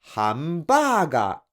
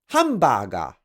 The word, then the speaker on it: hamburger: Since you're supposed to say hot dog instead of hot dog, you're supposed to say hamburger instead of hamburger.